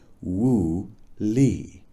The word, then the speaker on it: Wu Li: We called it Woo Lee, pronounced Woo Lee.